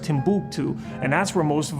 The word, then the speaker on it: Timbuktu: from here to Timbuktu the capital was actually pronounced Timbuktu and that's where most of them went to